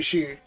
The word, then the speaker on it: Xi: She I'm not Chinese, but it should be she. The X The X is usually an SH sound.